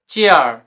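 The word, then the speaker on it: chair: সি এইচ এ আই আর কি হবে চেয়ার। এসব ক্ষেত্রে উচ্চারণ হয় ইয়া বা একার।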